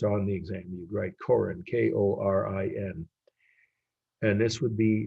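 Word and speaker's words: Korin: uh if it's on the exam you'd write coren k-o-r-i-n and this would be 1700.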